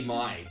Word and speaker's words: Mai: Hey, we got Mai in here. Hey, pronunciate her name in Thai. I told you, like in Thai, her name is, but it's actually Mai.